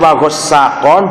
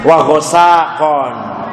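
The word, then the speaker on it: وغساقا: Wa ghassaqon, boleh ditasydid wa ghassaqon, boleh ditakhfif wa ghassaqon. Jadi bacanya boleh dua ya. Boleh wa ghassaqon atau tasydid. Boleh wa ghassaqon, namanya takhfif.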